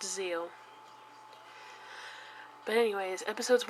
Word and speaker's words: Zeal: two episodes of Yu-Gi-Oh Zeal yes it is pronounced Zeal ignore this because it's just a nice little golden shuri that they decided to put in the middle of the word so yes it's pronounced Zeal but anyways episodes 1 and two have now